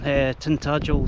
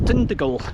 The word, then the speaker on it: Tintagel: She hears a lot of people calling Tintagel Tindigal.